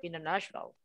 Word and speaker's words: international: not British English, but We often don't pronounce the T when it comes after the letter N, like internet. We just say internet and the T becomes silent. But this isn't universal. Same with this one here, mountain or international. We just kind of don't say that T.